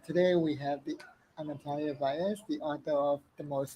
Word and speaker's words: Vallez: Welcome, people, to this author Q&A with Anatalia Vallez, and that's how you pronounce it, right? Vallez.